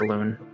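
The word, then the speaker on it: Elun: looking at the map for Aloon, it is pronounced Aloon.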